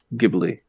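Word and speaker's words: Ghibli: um so I'm uh do you pronounce GBL gbly or G Studio G G I believe it's studio gibli gibli gibli uh I'm not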